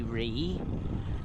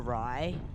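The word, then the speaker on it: Rei: A lot of people mistakenly call me Ree, and it shits me to tears. Mistakenly call me or Rye. Rye I don't care too much about, but the pronouncing EI generally in English is A.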